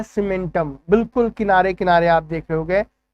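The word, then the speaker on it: cementum: अब देखो यहाँ पे सीमेंटम जो है एक कैसा लग रहा है, सीमेंटम जो है सुनने में सीमेंट के जैसा प्रोनाउंस हो रहा है ना, हाँ बस ये बिल्कुल सीमेंट के जैसा होता है।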